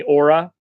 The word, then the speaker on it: Oura: I don't know if you guys know about the company Aura, and it's spelled Oura, Aura Ring.